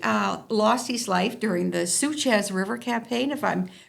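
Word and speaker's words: Souchez: Now, he lost his life during the Suchez River campaign, if I'm pronouncing that correctly. Suchet, yep.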